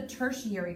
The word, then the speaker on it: tertiary: a third group of colors also that's the tertiary colors they're kind of a weird spelling it's